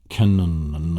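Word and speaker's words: cañón: you have the word canon, or the word senor, and your Spanish word for mister. And it's a nasal sound. It's an NY sound. Senor, canon.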